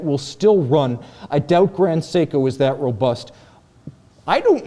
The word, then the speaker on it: Grand Seiko: for grand seiko and i pronounced it grand seiko and i quickly got feedback to the effect that it has to be pronounced for the us market grand seiko like okay you know